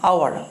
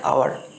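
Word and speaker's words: hour: এইচের মতো হচ্ছে না, আওয়ার, অ উচ্চারণ হচ্ছে, আয়ের উচ্চারণ হচ্ছে, এইচের উচ্চারণ কিন্তু হচ্ছে না, হোয়াইয়ের উচ্চারণ হচ্ছে না, তাই এখানে হবে অ্যান আওয়ার।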